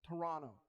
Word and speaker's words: Toronto: You gotta say it like Drake says it. Toronto.